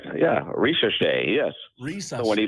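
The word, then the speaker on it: Risacher: Ricochet. Did I say it right? Right. Yeah. Ricochet.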